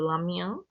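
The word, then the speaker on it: 拉面: Em chinês é pronunciado lamiã, né?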